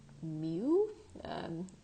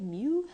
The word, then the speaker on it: mu: so this is pronounced mu or like what a cat might say mu so that is how